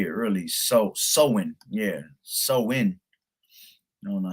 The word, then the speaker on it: Samhain: Sowin, yeah, sowin.